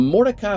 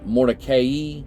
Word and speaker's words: Mordecai: It was also sometime in Moses Mordecai's lifetime that the pronunciation of the family name Mordecai shifted from the traditional long I ending to a long E. I guess Mordecai, Mordecai, I guess you would say. Mordecai, I guess that's the way what it would be.